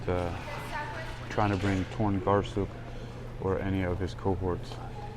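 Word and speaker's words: Torngarsuk: Jordan Garcia spelled t-o-r-n-g-a-r-s-u-k torn Garcia that's how you think it might be spells like phonetically I don't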